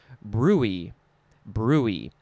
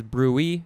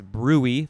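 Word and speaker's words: bruit: that is pronounced brute now with the second uh definition is brewee or actually it's brewey the emphasis is on the first syllable and this says any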